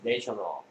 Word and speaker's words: national: A 소리가 바뀐다. A가 A도 되고, A도 되죠. 네. 됐습니까? 여기서는 A가 되고 여기는 A가 된다는 거 발음이 달라집니다. 됐습니까?